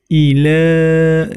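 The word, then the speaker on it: إِلَىٰ: Kemudian ila, nah di situ terdapat hukum bacaan mad jaiz munfasil, ya. Panjangnya boleh dibaca 2 harokat, 4 harokat atau 6 harokat, ya. Yang penting konsisten.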